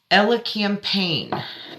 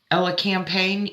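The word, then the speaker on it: elecampane: stress anything spell what Ella campaign e-l-e -c-a-m -p-a-g-n-e campaign it's a couple silent letters in there ashwagandha immune booster astragalus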